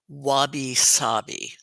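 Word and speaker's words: wabi-sabi: speaks Japanese but they have a concept called wabby saabi correct you're yeah which means recognizing that things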